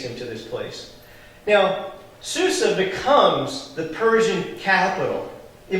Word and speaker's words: Susa: And if you're using an old translation, some of the older ones will say Shusha. And it's just a pronunciation thing that they were throwing in there. Shusha, Susa, it's the same place.